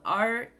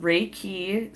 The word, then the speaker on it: Reiki: Reiki is spelled Reiki, okay? And it's pronounced Reiki. So how my instructor told me is just think like when you're raking the lawn, Reiki.